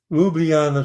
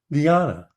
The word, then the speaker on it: Ljubljana: You probably wouldn't know to pronounce it that way. Ljub, L-J-U-B, L-I-U-B, Ljub. L-J, take the J as an I, Ljubljana.